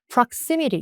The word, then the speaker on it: proximity: 이티로 끝난 단어도 앞에 좀 강세가 있기 때문에 proximity 여기를 다 강세로 읽으시면 되는데 prximity가 인접, 근접이란 뜻인데요.